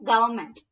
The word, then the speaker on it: government: N is silent. Oh, government.